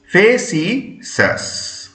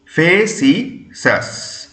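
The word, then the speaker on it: facetious: সি ই টি আই ও ইউ এস কি উচ্চারণ হবে ফেসি সাস ফেসি সাস অর্থাৎ দেখো এফ ইউ এইচ S double E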